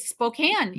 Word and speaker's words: Spokane: and they go and your address is in Spokane I said no it is Spokan and you do well